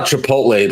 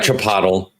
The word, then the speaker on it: Chipotle: Yeah, that's how Chipotle learned to pronounce their name. Chipotle. Yeah, Chipotle. It's good enough for Aristotle. It's good enough for them.